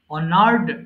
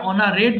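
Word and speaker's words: honored: এর উচ্চারণটা হবে না সাইলেন্ট সো এটা হবে অনার সম্মান করা অনার অনার্ড অনার্ড ভুল করে এটা অনারেট বলবেন না কেউ হ্যাঁ এটা হবে অনার্ড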